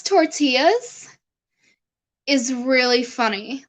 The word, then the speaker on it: tortillas: So how it's said to pronounce in the menu is tortillas. Tortillas. Like the last bit says YAHAS. Yahas. So tortillas.